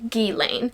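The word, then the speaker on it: Ghislaine: it is said that her name is pronounced like GI Lane so yeah I love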